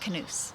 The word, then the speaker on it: knus: my Knus top, and she said Knus means hug in Danish, so it is Denmark. So Knus means hug in Danish, and she said it's pronounced Knus.